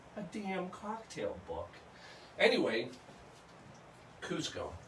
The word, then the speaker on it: Cusco: the mayor of Cusco he actually changed the spelling from c z to C and the reason is is they want it to be pronounced Cusco and here's why if